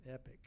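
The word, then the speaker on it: EQIP: monitoring services through a company called EPIC, E-Q-I-P, EPIC is the way it's pronounced, to give you credit monitoring services and other services for a 10-year period absolutely free.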